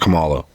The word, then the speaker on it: Kamala: the beginning of the video he said it's Kamala not Kamala I swear I've heard Cala Harris for the